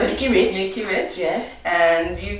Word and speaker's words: Mickey Rich: When I read her name, that's the reading, the pronunciation that came to me, Mackay Rich. Yes. But her name is Mickey. She calls herself Mickey Rich.